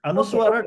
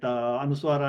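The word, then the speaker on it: anusvāra: Because anuswara doesn't have its own pronunciation. Okay. Okay. The pronunciation of anuswara depends on what letter comes next. Okay. If nothing comes, then it is pronounced as ma.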